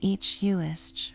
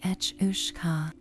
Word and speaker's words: each: Journey across the sea to Ireland and you meet the Kelpi's more ferocious cousin, the each pronounced something like etcha.